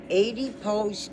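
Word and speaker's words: adipose: your body in your ad pose tissue which is the same thing as fat and it's spelled a d i a d pose like you strike a pose there's nothing to it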